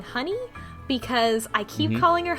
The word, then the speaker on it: Hyun-ae: and he said that it was more like Hane or Hyane. So I'm gonna call her Honey.